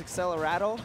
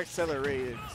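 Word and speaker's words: Accelerando: It's Accelerado? Yeah, it's not accelerated. Yeah. Accelerado. It's weird. Never played Dragon Quest, though. Yeah, I wasn't sure if it was Accelerado, Accelerado, something like that.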